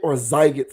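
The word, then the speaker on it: Sziget: He also performed at another music festival called Siget. Siget is spelled Siget. Zyget Festival.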